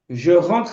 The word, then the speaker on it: je rentre: Je rentre à la maison. E como é que eu vou pronunciar? Je rentre. O mesmo R que você faz na vibração do suor, do perder, do pudor, do palar, do beber, do dormir.